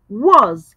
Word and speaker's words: was: It's a sight word and it is pronounced as was.